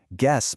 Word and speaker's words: guess: Without that silent U, guess might sound like Jess.